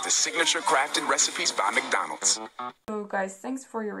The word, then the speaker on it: McDonald's: Especially after quarantine, you must be missing eating McDonald's.